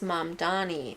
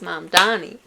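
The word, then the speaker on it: Mamdani: Mom Donnie. Mom Donnie. But like one of the name is Mom Donnie. Yeah. M A M D A N I. The name is M Donnie.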